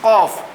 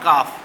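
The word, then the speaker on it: ق: My dear students, you know that this is Qaf. This is Qaf. Now I am giving double J under the Qaf. This is Qaf, not Kaf.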